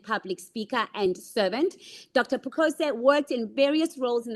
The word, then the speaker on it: Pukose: Robert Pukose. Before I give you his bio, I first want to know, have I pronounced that correctly, Honorable?